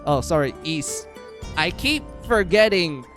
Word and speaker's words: Ys: Uh my all-time favorite is going to be YS. Oh, sorry, East. I keep forgetting it's pronounced East, but I grew up calling it YS.